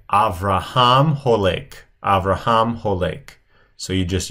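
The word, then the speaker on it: הולך: That's typically, whenever you have a participle, you'll typically have the OA sound. So notice on the second one here, the holek.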